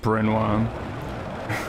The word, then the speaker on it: Prenois: It's in French. Pretty sure it's it's pronounced Prenois.